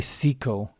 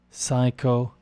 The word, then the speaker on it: psycho: this down psycho physical a lot of people say Seco but it's in English it's Psy psycho physical Therapeutics here with Pew